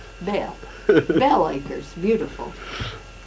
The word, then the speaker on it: Belle: But we spelled it B-E-L-L-E, but we pronounced it Belle.